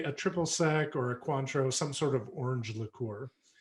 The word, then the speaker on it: Cointreau: Cointreau.